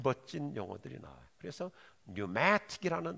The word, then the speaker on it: pneumatic: 그래서 pneumatic이라는 단어가 영어는 이제 앞에 P를 묵음으로 하니까 pneumatic이라는 단어는 이 공기역학의